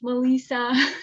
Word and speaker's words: Melissa: All of those are Melissa, Malissa, but it's pronounced Melissa.